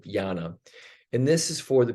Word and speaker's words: jnana: It's spelled J-N-A-N, but jnana.